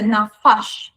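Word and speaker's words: נָפַשׁ: Pero hay otra palabra con las mismas 3 consonantes, pero con la pronunciación de nafash, cambian las vocales.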